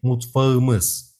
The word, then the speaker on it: mutfağımız: Be careful about consonant softening in kitchen. When we say our kitchen, we can't say mutfak. We have to say mutfağımız. K becomes soft G.